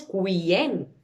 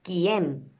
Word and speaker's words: quién: No decimos quién, decimos quién. Hacemos como si la U no existiera.